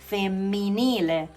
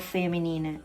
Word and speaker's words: femminile: And then we have feminine on the right side, which is femminile. Be careful here, there are two consonants, okay, together. So it's femminile, okay? It's not feminine, okay? Femminile.